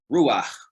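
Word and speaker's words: רוּחַ: concept of spirit, we see that it's actually pronounced ruah.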